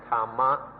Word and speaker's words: Dhamma: avoid using this word the thais just pronounce it in their own way tama or tam but still have to